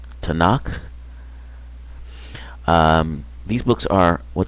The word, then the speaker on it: Tanakh: The Hebrew uh Bible is pronounced Tanakh.